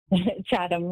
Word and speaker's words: Chatham: Chatham, yes.